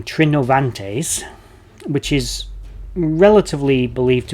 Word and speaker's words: Trinovantes: out that their name trinovantes which is relatively believed to be how it was actually pronounced with a hard v in the middle of days was similar